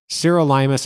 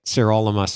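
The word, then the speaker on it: sirolimus: never read that i-r-o-l-i-m-u-s serolimus is how i say it cyrolimus is how people who know what they're talking about say it if you're a physician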